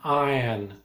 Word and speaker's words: iron: Right, it's called an iron. Don't pronounce the R.